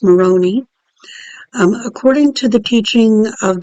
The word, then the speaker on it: Moroni: here i looked up moroni yeah it's not pronounced moroni it's pronounced moroni according to the teaching of the church of